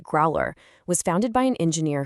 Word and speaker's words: Growlrr: Growler, that's pronounced Growler, was founded by an engineer whose entire career was spent designing high precision FDA regulated cardiovascular devices.